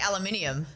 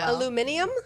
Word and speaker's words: aluminium: Aluminium. Aluminium. I've realized Australians like to add in a syllable.